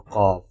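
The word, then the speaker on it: ق: first letter is C cough has two dots on top please read after me with heavy sound like this let me show you origin of cough using base of tongue touching the soft part of pallet one more time using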